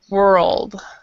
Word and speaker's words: world: so that when you so you're basically moving the tongue several places in your mouth world one and and the the r is in the back your mouth but the l is in the front of your mouth so that's why the tongue is moving so quickly world oh yeah and